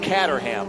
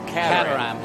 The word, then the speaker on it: Caterham: for my whole life Caterham I've been saying Cam and you say catam the worst one the